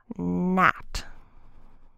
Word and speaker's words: gnat: GN, the G is silent and the N says N. So a word where you would see that would be gnat.